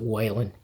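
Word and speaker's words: Whelan: Some people pronounce it Whan, but either way, uh, Michael Wellen cover.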